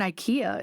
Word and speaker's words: IKEA: I started learning and Ikea is one I'm like um yeah First Amendment no I don't know it's a place it rhymes with schia you guys might have